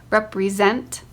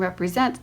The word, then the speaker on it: represent: botany, remember, important, recollect, represent. In the words colony and botany, the first syllable is accented. In the words remember and important, the second syllable is accented. In the words recollect and represent, the third syllable is accented.